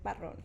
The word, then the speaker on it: Barron: and my last name is Barron. So All wrong. you gotta Okay. roll the R.